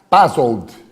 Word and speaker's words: Passold: Estamos aqui com o professor César Passold, correto? Correto. A pronúncia precisa? Em alemão.